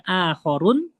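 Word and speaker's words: آخَرُون: Akhor akharun ya bacanya akharun itu yang lainnya untuk muzakar. Ukhro yang lainnya untuk muannas.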